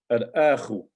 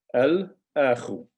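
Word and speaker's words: الأخ: Okay, al-akhu. So you notice we actually pronounce the alif lam here. Al-akhu, the brother.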